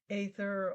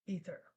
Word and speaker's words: aether: And the third week, the day before the summit, will be aether, or as they pronounce it in the United States, ether.